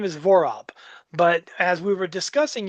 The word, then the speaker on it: Vorob: Vorob, Vorob. It sounds like, to me, it seems easy, but it's people. I've been Vorob, Vorub, Vorab.